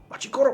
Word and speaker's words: Machi Koro: But Machi Koro? Machi Koro. That's how you pronounce it.